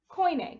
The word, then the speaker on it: Koine: of the most important which is this is pronounced koine koine greek and koini greek starts to form in the the late